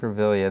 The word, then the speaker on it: Grevillea: This is Grevillea. Is that the right way to say that? Grevillea.